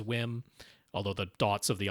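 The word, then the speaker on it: WiiM: using, or should he maybe just get a Wham amp? Now, they say it's pronounced Wham, but I agree with you.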